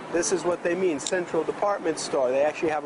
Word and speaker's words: Central: We say Central, but because the way they spell that in Thai language, the letter L in Thai language becomes the sound of a letter N. So you'll hear Thai people say Centron.